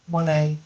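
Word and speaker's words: Monáe: Now, the song we're playing for you, I can't pronounce the person's surname. Janelle? Monet.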